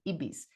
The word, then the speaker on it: Ebis: producer for this cruise, her name is Ebis, like the Ibis bird but pronounced the Spanish way, Ebies."